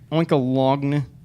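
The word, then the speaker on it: Oinkologne: Oinkalogn. Is that like baloney, where the GN is silent?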